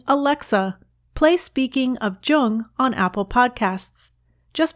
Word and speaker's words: Jung: alexa play speaking of jung on apple podcasts just be sure to pronounce jung with a hard j so with special thanks